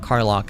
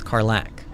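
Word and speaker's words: Karlach: saying it correctly so it's not Carlock it's carlac okay all right I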